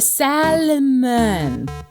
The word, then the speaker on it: salmon: cool i caught a salmon fun fact i only recently found out you didn't pronounce the l in salmon i mean i just